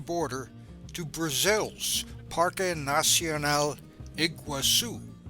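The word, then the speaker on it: Iguaçu: to Brazil's par nasel iguasu slightly different pronunciation and Portuguese than the Spanish Iguazu the border crossing was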